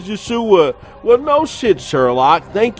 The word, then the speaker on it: Yeshua: His real way to pronounce his name is Yeshua.